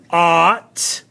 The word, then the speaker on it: ought: This one is ought. O-U-G-H-T with the ah. This is still the broad sound A.